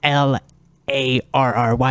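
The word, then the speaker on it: O'Larry: O Apostrophe and then l a r r y it's actually pronounced Larry but he he pronounces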